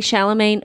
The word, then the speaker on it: Chalamet: Is it Timothy Chalamet or Timothy Chalamet?